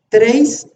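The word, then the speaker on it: τρεῖς: 5140, la palabra treis, así se pronuncia en griego, tres.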